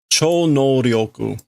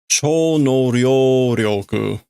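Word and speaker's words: 超能力: So this is a mispronunciation. I guarantee it. What is ESP? There we go. Cho no ryoku. That's what he's trying to say. He says Cho no ryoku, which is like super cool of the evening power.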